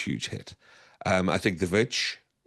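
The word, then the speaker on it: The VVitch: Um, I think The Vitch, as I try and pronounce it with its DVs, uh, the V uh, The Witch really did the same thing.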